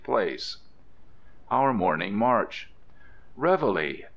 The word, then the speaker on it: reveille: place our morning March Reveille as nobody pronounces this word a La France says as everybody calls it reveli why not drop it